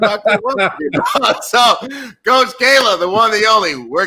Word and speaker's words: Cailah: coach kayla okay my website is coach kayla kayla is spelled c-a-i-l-a-h same thing on instagram on twitter